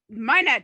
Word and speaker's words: Maenad: Bertuzza knows how to pronounce it, but I only read the word, so I don't know how to pronounce it. The cultist, Maenad? Maenad, yes.